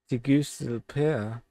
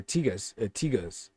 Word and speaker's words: Tegucigalpa: Let's see how we pronounce that. Tegucigalpa, municipality of Central District, or Tegucigalpa.